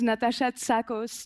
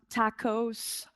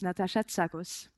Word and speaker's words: Natasha Tsakos: pronounce my name correctly my name is natat SOS not tacos or taco or zakos it's natat SOS and uh I am